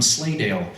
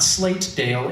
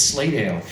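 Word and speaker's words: Slatedale: the name of dennis rex who is from slaydale uh lehigh county and you'll notice i pronounce that the way people pronounce it locally not slate dale it's slaydale and dennis rex used to actually have a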